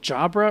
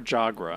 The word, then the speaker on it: Jabra: Wait, is it Jabra or Jagra? Jabra. B.